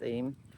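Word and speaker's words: Eyam: So, I've just come out of Stony Middleton, which is the last stamp and and stop before I get to EM. It is apparently pronounced EM.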